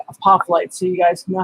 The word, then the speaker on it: apophyllite: to the spelling over here i'm gonna say a pop light so you guys know how to spell it a p o p h y l l i t e i didn't know it had two l's in